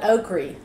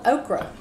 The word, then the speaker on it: okra: were so country my family we called it oakri i didn't know again until i was a little older that it was actually called okra because i always pronounced it okra our tomatoes